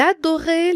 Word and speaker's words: adorait: crayons bien taillé elle adorait les crayons bien taillés elle adorit encore en fait la liaison elle adorit le T ne se prononce pas le attend ce mot